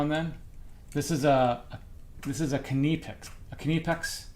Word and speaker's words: KiCad: And I think you pronounce it KiCad because I think I looked that up.